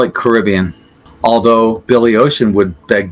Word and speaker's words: Caribbean: different ways I usually misspell this word I'll spell it with two RS and one b in general I'll probably say Caribbean some people would say Caribbean and they would not be incorrect Caribbean Caribbean Caribbean I would call it Caribbean although Billy